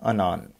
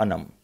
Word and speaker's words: Anam: Answer of this question is Tahmima Anan or Anam. So remember Tahmima Anam.